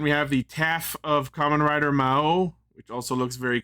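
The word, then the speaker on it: Kamen Rider: Then we have common rider is the way it's pronounced.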